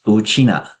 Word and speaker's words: 吳啟訥: My name is Uchina with the family name first. The pronunciation is exactly the same as how Ryukyu people refer to themselves as Uchina.